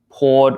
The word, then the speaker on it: pored: and we have port these two words happen to be pronounced the same way so um the correct answer here is actually b okay so we say poured over poured over it's